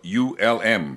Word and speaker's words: Ulm: Now, that's spelled U-L-M, pronounced Ulm.